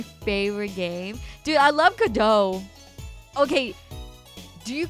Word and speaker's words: Godot: Now I say Godot. I hate that the T is silent.